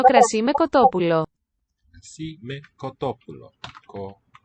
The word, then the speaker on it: κοτόπουλο: Crasi me kotopulo. Koto accented. Pu is written omicron upsilon. Lo. Looks like a neuter. The word for chicken, kotopulo.